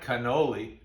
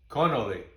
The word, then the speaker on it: cannoli: singular is canola and in fact we've all been pronouncing in america the plural wrong it's not cannoli it's connolly so one is a conolo and more than one are conoli now another problem comes